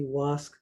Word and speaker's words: WASC: So WASC is the Western Association of Schools and Colleges, and it's actually WASC Senior College and University Commission. They're supposedly pronouncing this acronym as WASC.